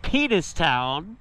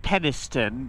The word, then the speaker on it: Penistone: So we saw that there was a Greggs in this little town right here called Penistown. Well, the locals probably pronounce it Peniston, but still.